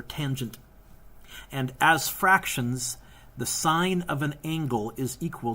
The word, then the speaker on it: sine: a H T oh the S stands for sine which is one of the buttons on your calculator it's pronounced sine not sin sin is when you call sine